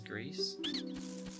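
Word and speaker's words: coup de grâce: Coup de grace. It's not coup de grace, right? It's coup de grace. I believe that's how that's pronounced, even though it says grace.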